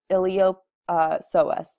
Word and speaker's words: iliopsoas: starting off with our iliopsoas the P is silent here and it's made up